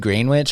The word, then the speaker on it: Greenwich: Yeah, well, I mean Greenwich, it's spelled the same way. No, it's not. Is it not? No. Oh, it's Greenwich, like Gren, huh? No, it's green, WICH. Ah, good point. Yeah, like a sandwich.